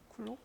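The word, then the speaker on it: Coulomb: 그죠 예 프랑스의 물리학자 이걸 발음하면 쿨롱 프랑스 불어로는 그죠 예 근데이 영어식 으로는 이제로 내서 미음 자가 붙어요 자 예 실제 그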